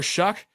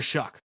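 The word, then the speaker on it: Shough: Tyler, how do you pronounce Shaw, right? I heard it pronounced as Tyler Shuck.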